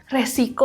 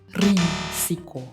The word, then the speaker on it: risiko: Resiko pakai e yang betul adalah risiko. Risiko. Risiko. Sama dari bahasa Inggris serapannya risk.